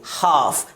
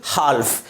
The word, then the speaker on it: half: अगला example HALF, इसे क्या पढ़ेंगे? हाफ, ना कि हाल्फ।